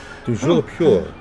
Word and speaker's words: Toujours pur: I order you to pronounce it for me. Oh, but Master knows that Scrope's French is most pitiful. Toujours pure.